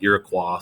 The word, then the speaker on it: Iroquois: was the iroquois confederacy you'll see it or here pronounced iroquois sometimes either way is fine but they were one